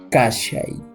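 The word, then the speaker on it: kashay: Fíjense, lo único que se ha hecho es que del verbo kai hemos separado la sílaba ka y hemos introducido al medio el auxiliar sha. Para que diga kashai, que significaría estar.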